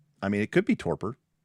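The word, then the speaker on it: torpor: mean it could be torper. I also could be wrong. No, I mean torper. Torper. Torper. Yeah, the Google Google Translate or Google pronunciation agrees. Torper.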